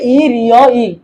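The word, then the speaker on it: 일요일: ইল ইয়োইল রবিবার। তো আমরা এটা বাচ্চিম উচ্চারণ সহকারে বলবো। বাচ্চিম এবার স্বরবর্ণ থাকলে উচ্চারণের সময় বাচ্চিম উপরে উঠে যাবে। তাহলে ইল ইয়োইলটা হবে ই রিও ইল, ই রিও ইল, ই রিও ইল।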